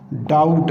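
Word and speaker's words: doubt: इसी तरह से डाउट, यहाँ पे भी बी को हम साइलेंट कर देंगे।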